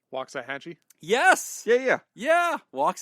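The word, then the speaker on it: Waxahachie: a XA ha c c h i e walks a hatchee yes yeah yeah yeah walk a Hatchy okay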